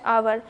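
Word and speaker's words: hour: They waited for हर for dash आवर। अब देखिए यहाँ पे आवर जो हम बोलते हैं वहाँ पे एच साइलेंट होता है, क्योंकि अगर हम एच को पढ़ते हैं तो ये हावर पढ़ाता, लेकिन यहाँ पे जब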